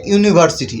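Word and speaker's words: university: বসাবেন ব্যাস যেমন দেখেন he reads in এ ইউনিভার্সিটি এখানে ইউনিভার্সিটির ইউ দেখেন উচ্চারণ হবে হচ্ছে ভাওয়েল সাউন্ডে হবে আবার রস্যু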